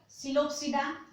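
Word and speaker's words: Psilopsida: So they are Coelopsida, P is silent here, Coelopsida, Lycopsida, Spinopsida and Pteropsida.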